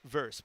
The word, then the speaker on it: versus: Someone didn't like my use of verse. Blazers versus Grizzlies. That is a commonly accepted pronunciation of the shorthand versus.